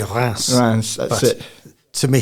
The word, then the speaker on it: Reims: Yes, I've never known how to pronounce it, but I hear they say Reims.